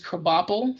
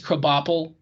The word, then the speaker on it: Krabappel: Krabappel from The Simpsons was his secretary.